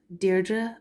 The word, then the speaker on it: Deirdre: Muirna, Deirdre, agus Nisha.